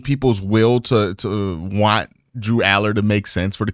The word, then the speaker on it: Drew Allar: Aller now I joke around sometimes call him Aur but Drew Aller is the proper pronunciation of his name he is from Vina